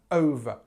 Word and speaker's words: over: Now, pronunciation-wise, we've got this stress on the first syllable here, and we've got this O sound there. And actually, if you remember us talking in previous videos, this schwa sound, over, over.